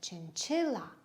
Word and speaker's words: chinchilla: l l a chinchilla how many syllables are there three syllables where is the stress yes it's on the second chinchilla chin chi the